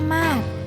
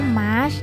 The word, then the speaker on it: มาร์ช: สวัสดี ครับ ผม ชื่อ โคอาร่า มาด หรือ จะ ออก เสียง ว่า มาช ก็ ได้ นะ แต่ คน ที่ เรียก